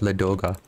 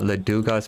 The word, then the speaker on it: Ladoga: doing too well at la doga and it is ladoga not laduga's mispronouncing it even though i prefer